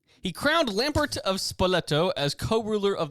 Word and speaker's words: Lambert: Formosus controversially crowned Lampert of Spoleto as co-ruler of the Holy Rome.